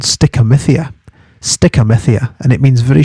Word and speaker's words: stichomythia: So it's spelt, so stickamithia is spelt STICHOMYTHIA, stick, looks like stitch, stickomythia.